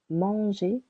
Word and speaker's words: manger: You can hear for the verb manger, the first syllable is a little longer. Manger.